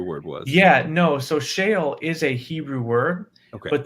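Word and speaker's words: Sheol: saying the Hebrew word was yeah no so Shale is a Hebrew word but the way you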